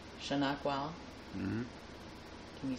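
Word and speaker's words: Shanokwele: Shanakwal. Shanakwal. Mm-hmm. Can you spell it? In English, Yes. S-H-A-N-O-K-W-E-L-E. Shanakwal.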